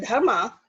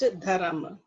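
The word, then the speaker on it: धर्म: Sometimes people call it Dharma, but real pronunciation is Dharam. Just like it's not a yoga, it's a yoga, right? So Dharam. Dharam is the proper pronunciation.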